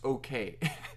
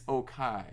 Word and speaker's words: Okai: pronounce their first name, which is not pronounced okay. It's Okai. So yes. Although it reads like okay, so I was fooled at first.